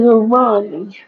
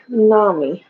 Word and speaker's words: umami: I tried a tonal extra MSG and stuff like that, which MSG is umami. Umami. Umami. Am I saying it right? Umami? Umami. Yeah, what that means is deliciousness.